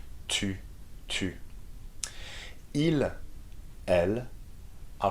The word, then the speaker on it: tu: Tu is the U sound, so make sure you make a round with your lips, okay? And your tongue touches the back of your teeth. Tu.